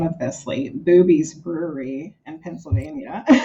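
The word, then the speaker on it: Bube's: Boobies Brewery in Pennsylvania. I never heard that. It's spelled B U B, but it's pronounced boobies.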